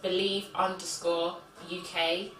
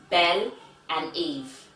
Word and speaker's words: BelEve: It's BelEve_UK, and BelEve is spelled BelEve. It's Bel and Eve, not BelEve. So where did? All right, because that's how I was like, BelEve, because that's how it looks, you know.